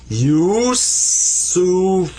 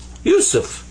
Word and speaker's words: Yusuf: So it's pronounced you, you. And then sa, there's the three dots, the three stems that are up here like this, without dots, actually. So that's sa, pronounced like a S.